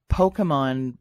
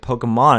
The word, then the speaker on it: Pokémon: you've heard the term Pokemon but what exactly is it well right off that here I am relieved that she's pronouncing it Pokemon instead of Pokemon so Pokemon is is